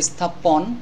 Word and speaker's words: স্থাপন: আরেকটি বিষয় সেটা হলো এই দন্তস্বর অক্ষরটির উচ্চারণ উচ্চারণ এস এর মত করতে হবে এস্থাপন স্থাপন লেখা আছে স্থাপন উচ্চারণ করতে হবে স্থাপন এরকম ভাবে এখানে আরো